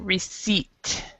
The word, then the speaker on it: receipt: so you yeah so the p is silent so you do not actually pronounce the P at all so receipt okay and this will